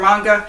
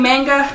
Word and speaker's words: manga: it's a manga or Manga I grew up saying manga but I think it's actually pronounced manga I love the series